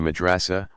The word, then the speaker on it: madrasa: Students in a madrasa, pronounced madrasa, pursue a curriculum built around the teaching